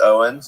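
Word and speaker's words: Eoin: Your your name is Eioen pronounced Owens, you know, so use that.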